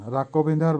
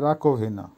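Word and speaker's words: раковина: রাকোভিনা, রাকোভিনার বাংলা হবে রান্নাঘরের থালা বাসন ধোয়ার জায়গা বা বেসিনকে বলে, উচ্চারণ হবে রাকোভিনা। আবারও বলছি রাকোভিনা।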